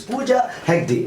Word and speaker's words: Pooja Hegde: So today we have a heroine and her name is Pooja Hegde.